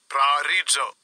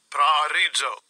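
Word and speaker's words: προορίζω: Predestination, the pronunciation in the Strong's G. Strong's G, 4309, Prarizzo, Prarizzo.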